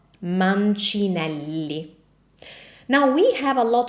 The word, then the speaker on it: Manelli: So this is correctly pronounced as man. Manelli.